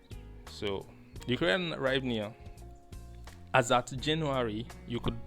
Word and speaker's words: Hryvnia: The Ukrainian, I don't know how to pronounce it, but I think it's pronounced as Hryvnia, right? So, the Ukrainian Hryvnia, as at January, you